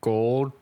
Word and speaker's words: Goldthwait: I was picked a movie by Bobcat Goldthwait.